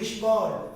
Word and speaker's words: ঈশ্বর: ঈশ্বর। আমরা ঈশ্বরের কাছে আসি পাচ্ছে, ঈশ্বর নাকি ঈশ্বর। ব কি বলছেন?